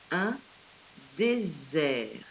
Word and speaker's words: désert: fait regarder par ici nous avons le mot un désert mais par 3,6 entre les deux voyelles on